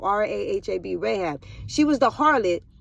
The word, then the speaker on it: Rahab: Rahab I don't want to say her name Rahab r a h a b Rahab she was the Harlot that hid the